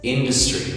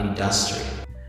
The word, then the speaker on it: industry: It's industry, not industry.